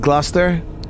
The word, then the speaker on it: Gloucester: from London Gloucester that's how you say it Gloucester hey to the Swan Road it does feel